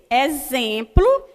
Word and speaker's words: exemplo: Exemplo. Quando eu falo exemplo, dá a entender que eu estou falando com Z, mas eu escrevo com X.